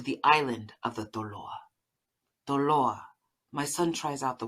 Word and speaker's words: Toloa: His pronunciation is spot on, where the T in Tongan nearly sounds like a D, and the accent is on the second to last vowel.